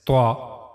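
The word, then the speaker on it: ط: And we also read that and z both these letters are bold letters. We have to make a bold voice while reading these two letters.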